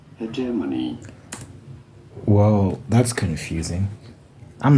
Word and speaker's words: hegemony: Hegemony. You do want to stress on the second syllable, the J syllable. Hegemony.